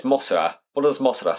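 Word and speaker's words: モスラ: how it's said so mothra in japan is pronounced masala it's mosura what does mossada sound it sounds like mothra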